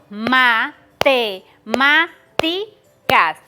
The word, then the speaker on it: matemáticas: Aquí, la sílaba tónica, la que tiene mayor fuerza de voz es la ma, porque también están tildadas, la ma.